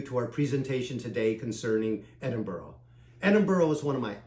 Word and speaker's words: Edinburgh: to pronounce the name it's pronounced Edinboro not Edinburgh the locals really appreciate